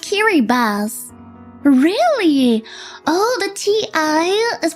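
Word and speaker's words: Kiribati: Kiri body is is pronounced kiri bus.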